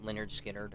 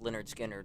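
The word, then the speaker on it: Lynyrd Skynyrd: the final song in that movie was um Leonard skinnard until two months ago when I was I was listening to to pronounce lonard skinnard I was listening to it and you know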